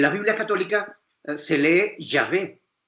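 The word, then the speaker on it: Yahweh: biblia católica se lee ya ve porque ya ve es la pronunciación hebrea del nombre jehová no nosotros no somos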